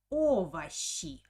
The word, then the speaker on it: овощи: like or orash but the second o doesn't have an accent so i pronounce it like a o okay so it's a